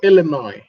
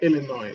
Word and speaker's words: Illinois: the University of what Illinois Illinois okay so that s is silence okay it's called Illinois so um these are some of the you know nuances yeah Illinois the S is silence so um your all